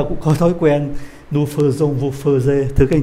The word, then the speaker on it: faisons: Đây viết là AI phải không ạ? AI thì đọc là E phải không? Nhưng mà ở đây đọc là ơ. Phiên âm quốc tế viết như thế này: Faisons, đó là đặc biệt.